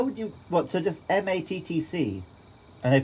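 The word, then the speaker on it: Mattc: and apparently the staff thought my name was matsy that's worse than matsy how would you what so just m-a-t-t-c and they pronounce it i think i said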